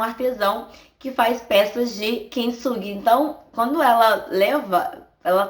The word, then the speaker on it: Kintsugi: culpando e teve a ideia de levar em um artesão que faz peças de kintsugi.